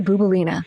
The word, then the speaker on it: Bouboulina: Laskarina Boubolina. It rhymes. I say Laskarina, you say Bouboulina.